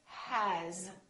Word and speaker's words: has: For example, the word has. It's spelled with an S, but the sound is actually Z.